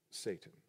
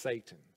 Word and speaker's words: Satan: I want to once again just share with you the context of that word Satan. If you come from an evangelical background, you've probably heard it pronounced Satan, but that's not it.